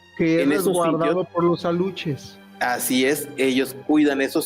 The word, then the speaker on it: aluxe: y respetamos de los aluches. El el ¿Cuál es la pronunciación correcta de la palabra aluche? Es aluche. Es no es che, es al es como pronunciar s h she.